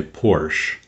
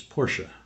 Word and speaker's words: Porsche: Many people say Porsche. And I'm gonna go drive away in my Porsche, and I always ask them front or back Porsche. But the proper pronunciation of the car company is Porsche.